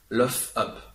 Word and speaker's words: luff up: On va voir maintenant la traduction, d'abord en anglais, qui s'écrit Lima, uniforme, Foxtrot, Foxtrot, uniforme, papa, qui se dit luff up.